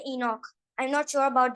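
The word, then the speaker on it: Enoch: लफ्ज इस्तेमाल किया है ये बाइबल में इसको प्रोनाउंस किया जाता है हजरत सलाम को इनक में सॉरी बाइबल में इनक कहा जाता है ठीक है और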